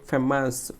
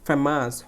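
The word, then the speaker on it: famous: দেখো ফে বলতে গেলে আমাকে ফেমাস, ফেমাস, ফেমাস, ফেমাস। দেখো এই ফে বলতে গেলে আমাকে কী করতে হয়েছে, জোরে উচ্চারণ, ফেমাস, বিখ্যাত।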